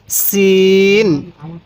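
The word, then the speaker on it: سين: এই হরফটির নাম হলো সিন সিন এই সিনটা আমরা উচ্চারণের সময় আওয়াজটা অনেক চিকন করব তাহলে আমরা এই সিনটা সঠিক উচ্চারণ করতে পারব তাহলে এই হরফটির নাম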